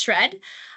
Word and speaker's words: SR&ED: abbreviated as srn and we pronounce it as shred uh and it's the